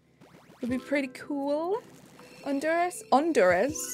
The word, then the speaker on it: Honduras: Honduras, there we go. Silent H.